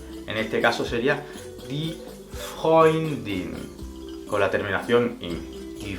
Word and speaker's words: Freund: Tenemos EU. Estas 2 vocales van a hacer que la palabra en este punto se pronuncie como hoy. Como por ejemplo, der Freund, el amigo.